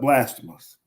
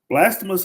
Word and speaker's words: Blasphemous: And if you're looking for something else, listen to me try to pronounce this. I'm going to call it Blasamus. Blasphemus is a 2hour time trial game.